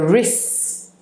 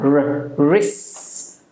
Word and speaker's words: wrist: then you have the wrists when I whisked and then we have wrists wrists it's w r i s t the W is silent the wrist the wrists